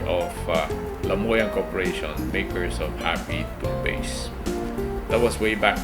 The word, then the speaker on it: HAPEE: So I changed the spelling from HAPPY to HAPEE. Since if you pronounce the word, it's basically the same pronunciation as happy.